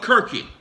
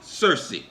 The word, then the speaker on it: Circe: In the etymology of the word church, you will find the name or word, whichever you prefer, of Kirky, sometimes pronounced Circe.